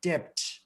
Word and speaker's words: debt: should say doubt ditch when he should pronounce debt d-e-b-t not d-e-t he kleppeth the kafkov